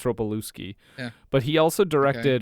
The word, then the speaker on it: Ropelewski: I think that's how you pronounce Ropelewski? it. Well, there's a Yeah. L-E-W. I think it's Ropelewski.